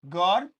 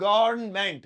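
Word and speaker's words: government: गवट देखिए गवट नहीं गवर्नमेंट गवर्नमेंट गवर्नमेंट गवर्नमेंट गवर्न ऐसे गवर्न हम का भी साउंड आएगा।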